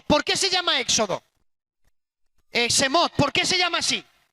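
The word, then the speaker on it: שמות: En el hebreo se pronuncia Semot.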